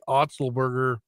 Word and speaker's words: Otzelberger: for us yes Iowa state had coach TJ otzelberger that how you say it yeah I said